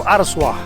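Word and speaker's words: Arzúa: coming of santiago about four kilometers off of araswa that's the way you pronounce it well folks made it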